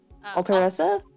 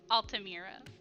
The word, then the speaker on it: Altamira: Alteressa? Altamira. Altamira.